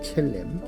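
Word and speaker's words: צלם: 우리의 형상을 따라 우리의 모양대로 우리가 사람을 만들고 형상이라는 히브리어 첼렘입니다. 첼렘 첼렘 첼렘이라고 읽습니다.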